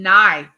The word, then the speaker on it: knife: just like in in knife you know you don't say kife do you in knife it's k n i f the K is silent and uh oh Ray